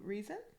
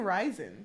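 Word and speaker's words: Rhysand: I kept saying Rysand because it looks like Rysand. Yeah, but his nickname is Reese. I know. Okay, so Reese. It's like you're saying reason.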